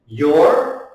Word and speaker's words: you're: Now again, this, you do not say it like you are, because that is you are. This is a different word. So you pronounce it like your.